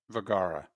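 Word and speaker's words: Vergara: Vagara.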